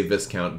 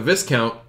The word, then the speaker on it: Viscount: the Vikon Tour Viscount I say Viscount but some people say the S is pronounced silent and I say who